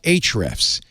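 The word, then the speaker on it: Ahrefs: will want their called H refs now it's a little confusing because the a is silent in H refs it's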